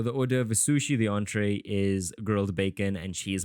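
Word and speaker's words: entrée: we have what's that is it entry no it's it's not it's entree wow look at me I polyon I'm speaking French what can I say so the order of isushi the entree is gred bacon and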